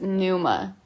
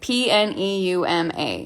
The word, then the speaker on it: pneuma: and it says the corresponding Greek word is pneuma like p-n-e-u-m-a and I think of pneumonia immediately uh so